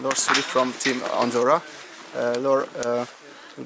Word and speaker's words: Laure Soulié: Laure Soulié, it's good? Yeah. Pronunciation. Laure Soulié from Team Andorra.